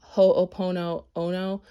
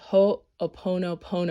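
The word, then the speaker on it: Ho'oponopono: mantra which is from ho opono ono i'm saying that wrong i'm sorry ho oponopono i've been trying to say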